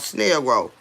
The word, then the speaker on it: Snellgrove: It's called Snail Grove. It's spelled Snellgrove.